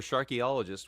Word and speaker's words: Sharkologist: Sharkologist, which rhymes with archaeologist, um is uh it can be found on all the platforms, uh social media and music.